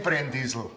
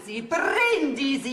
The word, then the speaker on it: Brindisi: Also kein Brenndiesel. Brindisi heißt das, wo wir den Sepp im Urlaub getroffen haben.